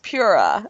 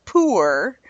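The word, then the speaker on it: Pu-erh: see he the word pure my mind hears pura I don't know why I say it in my head it comes out pura maybe I'm thinking that it's healthy and pure but the correct pronunciation is poor which does not project pure goodness to me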